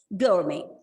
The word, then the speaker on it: gourmet: And the stress is on the first syllable and the T is silent, right? Gourmet.